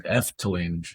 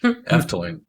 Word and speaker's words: Efteling: So yeah, part two of the awesome or no, I said it wrong. Eftillain Eftlane. And yes, I am going to click a like button actually.